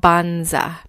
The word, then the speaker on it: Banza: you about today is a pasta alternative called bonza that's pronounced ba n za and it's made from